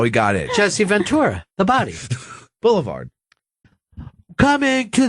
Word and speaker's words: Jesse Ventura: government doesn't want you to read signed by Jessie vura former governor and also known as the body now you're from his state right yeah you don't know how to say his name correctly Jesse Ventura the body The Body Ventura oh boy how